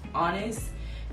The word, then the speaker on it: IANYS: Okay, so my newest baby is called ah-nis Creative. ah-nis spelled IANYS, which is Synai backwards, India Synai.